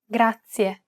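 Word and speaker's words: grazie: It's pronounced gracia. This word uses the rolled R sound.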